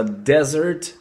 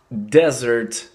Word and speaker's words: desert: Пустыня произносится desert, desert, desert. А вот второе слово, то есть десерт, это уже dessert, dessert, dessert.